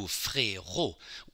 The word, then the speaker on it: frérot: And if you turn from frère to frérot, frérot has two syllables. You see the accent changing. Frérot. Now, all of a sudden, the E accent aigu is the end of a syllable.